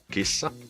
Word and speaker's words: kissa: kissa, a cat, and we pronounce it by just combining all the different unique sounds together. Something like kissa, kissa. We just have to prolong the S because it's double S.